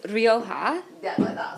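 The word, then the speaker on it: Rioja: how you say it Sean well it is Roha if you are doing it in the way that the Spanish pronounced the word Roha which means red but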